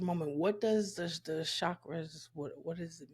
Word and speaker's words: chakras: the chras which are it's pronounced more like Chuck bra yeah okay I've met